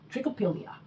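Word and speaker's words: Trichopilia: Trick oill. That's how it's supposed to be pronounced. Trickopilia.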